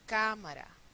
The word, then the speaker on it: cámara: falta ponerle la tilde cámara cámara una dos tres es una palabra esdrújula todas las palabras esdrújulas llevan tilda control conol el estrés